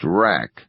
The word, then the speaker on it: Rack: and unassuming ing man named Arthur rack pronounced rack he said yes as in rack and ruin white haired brown skinned